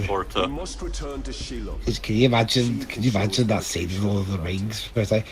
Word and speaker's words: Shelob: Again, it's technically Shelob, but for some reason the game mispronounced like her initial part of it is supposed to be a pronoun, when it really is not.